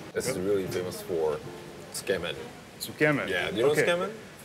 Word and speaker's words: tsukemen: So how do you say tsukemen?